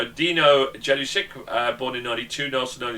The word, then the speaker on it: Jelusick: I think the pronunciation is something like Jelusic is what I think it would be, or something like that.